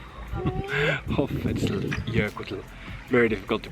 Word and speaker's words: Hoffellsjökull: The place name is Hoffell, and then because it's the glacier, it's Jökull, and then there's an S in between, so it's Hoffell. Hoffell Jökull.